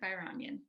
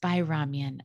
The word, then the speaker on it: Bayramyan: Please welcome Janet Bayramyan. I hope I'm pronouncing that correctly. Thank you for having me on, Janet Bayramyan. Yes. Bayramyan.